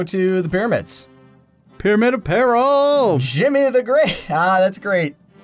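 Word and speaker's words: Djimmi: Jimmy the Great. Ah, that's great. Because it's spelled like gin, but it, yeah.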